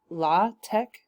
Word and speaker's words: LaTeX: of people like to pronounce it la tech because that's how you would pronounce his name now i'm going to